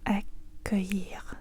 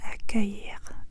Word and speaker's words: accueillir: Et le mot c'est accueillir accueillir accueillir accueillir. Trop de voyelle et encore cette combinaison des des ailes double ail et les voyelles impossible.